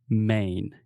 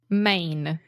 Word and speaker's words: Maine: it yeah I mean it's the same way that we say main right just like Main Street or the main point